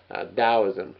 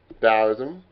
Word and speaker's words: Taoism: And then we move on to Taoism. Taoism, it starts with a T, but it sounds like the sound comes out as a D. Again, Taoism around 550 BC.